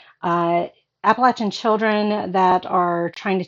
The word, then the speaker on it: Appalachian: Um and that is how you pronounce the word appalachin. It is a Native American term. I forget what it stands for, but it it's got the latch in it. Um so appalachin uh appalachin children that are trying to take care of themselves.